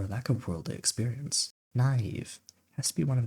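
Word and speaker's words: naïve: mouth, but trust me, those two dots, Are what bring the ieev sound to naive. Without it, we're going back to the caves and rhyming with it to.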